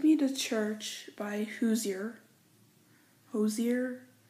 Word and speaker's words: Hozier: real quick take me to church by hozier hozier it's spelled h/o the i er all credit goes